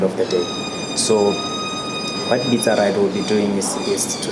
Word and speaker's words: Bitsaride: Can you just spell it nicely? B-I-T-S-A. Okay, Bitsa Ride. Yeah, Bitsa Ride.